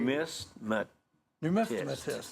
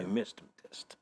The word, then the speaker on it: numismatist: Numismatist. There you go. Numismatist. I think they can, like, put you to Kevin, sleep, can you too. sound that out phonetically, please? All right. NUM is like number.